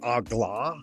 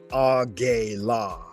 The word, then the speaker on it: AGLA: Worth pointing out here, guys, she said Agla. That's fine. You could say that. But we can also say Agela, which is Adonai Gebura Leolam Amen. So the Agela is actually an encoded version of that. And I like to do them a little more similar for each one, because it connects more. It has better continuity for me. Agla is the accepted way.